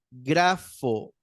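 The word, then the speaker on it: γράφω: grafo Ah no perdón el acento va en la primera vocal Aquí está lo tengo muy chiquitito Perdón grafo grafo grafo Ajá con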